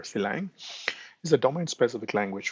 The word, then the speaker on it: Sylang: So the s lang which is for system language of course we can pronounce a slang or silang uh you know however it comes but um you know I prefer silang is a domain specific